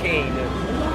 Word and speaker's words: Cane: And before we get started, do you pronounce this game Super Kane or Super Kane? Oh, and actually it's Super Kane Magic Super Zero. Kane Magic Zero, okay. But you were right. Kane is also an Italian word. It means dog.